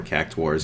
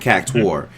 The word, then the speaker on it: Cactuar: She said she said cactar, and then the little kid on Final Fantasy 15 said cactuar, and I was a little confused by which one I should say. Yeah, he said cactuar, kind of like how you say it, or cactuar, and Echo said cactar, so I was a little confused. So there's no U in there.